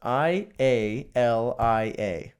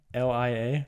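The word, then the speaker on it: Ialai: Again, because it's so difficult to pronounce. Ialia. Ialia.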